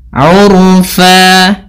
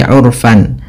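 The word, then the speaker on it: عُرْفًا: Sebagaimana mad thabi'i urfa bukan lagi urfan, tapi urfa dua harakat.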